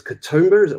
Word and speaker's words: Katoomba: I mean, the story that you told about the airstrip is Katoomba, if I said it right?